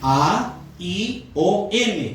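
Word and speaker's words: αἰών: La eternidad en el hebreo, en el griego, se escribe aion, A-I-O-N, aion, eso es eternidad.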